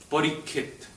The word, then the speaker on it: Parikshit: Any time you have a conjunct consonant, you take the first consonant and you just double it. So parikshit, parikit.